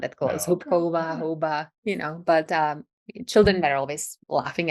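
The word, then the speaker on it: houba: and then pronounce the word for mushrooms in Czech. Hoba. So it doesn't really sound that close. No. Hopkova, Hoba, but children were always laughing at me from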